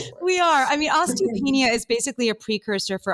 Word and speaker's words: osteopenia: I don't do dairy, but now I have osteopenia and I'm scared. Oh, E_Priv. I'm sorry to hear that. First of all, did I pronounce that correctly? No, it's okay. It's okay. It's osteopenia.